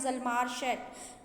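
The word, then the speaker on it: Hjalmar Schacht: ना, इनका नाम है ज़ल्मार शैट। यहाँ एच साइलेंट रह जाएगा और आप इसको ज़ल्मार शैट के नाम से प्रोनाउंस करेंगे।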